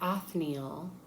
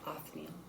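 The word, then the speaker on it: Othniel: And I want you to keep in mind that Anneil is the first of the judges. His name is spelled O T H N I E L. Anneal.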